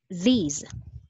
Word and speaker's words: these: Now, let's have these. Okay. By the way, I just want to explain the pronunciation of this and these. T-H-I-S, short sound po siya. This, this. T-H, okay. T-H-E-S-E, long sound, these, these.